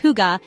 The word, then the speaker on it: hygge: Higa, pronounced huga, is more than just comfort.